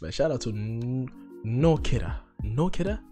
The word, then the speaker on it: Noa Kirel: out to no kidder no kidder because that's how she said it right nokira or noah karel i'm gonna say it like that let me know what